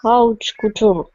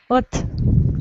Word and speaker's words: haute couture: Because these letters are not read in French.